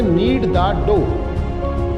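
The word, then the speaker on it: knead: तो आटा गूंद हो तो उस इंग्लिश में कहते नीडो यहां पर के साइलेंट एंड में ध्यान रखिएगा यह रिंकल्स है हमने इंग्लिश में पढ़ा था कि जब भी केयर एंड साथ आएंगे तो के को साइलेंट कर देंगे तो नींद लॉर्ड ओर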